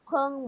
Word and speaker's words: 朋: The peng mo. You always pronounce it as pang. Peng, it's letter E.